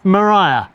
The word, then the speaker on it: Maria: A Mariah Carey. Maria Van Demon. A Maria Van Demon. Wait, is it is it Maria or Mariah? It looks like it's spelled Maria, but it's pronounced Mariah.